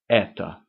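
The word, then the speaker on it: это: comes the word ETA spelled e t o but pronounced ETA and um I think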